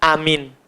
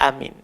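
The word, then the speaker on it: آمين: cara membaca Iya amin yang pertama dengan dibaca panjangkan hamzahnya dan miminnya ndak di tasdid kita baca amin amin itu cara pertama cara kedua hamzahnya boleh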